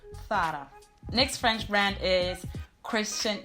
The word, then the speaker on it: Zara: This very well-known Spanish fashion brand is pronounced correctly in Spanish from Spain, Zara. Zara. So it's not Zara, but it's Zara.